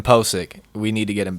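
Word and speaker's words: Pocic: wrong for weeks now Ethan posic not poaching Ethan posic we need to get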